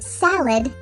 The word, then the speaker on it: salad: The letter A in the word adult makes the schwa sound. The schwa sound doesn't always have to be at the beginning of a word. In the word salad, the second syllable is